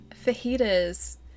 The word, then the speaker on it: fajitas: Like fajitas with like a soft J, right?